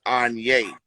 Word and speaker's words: Aigne: It's pronounced Anye.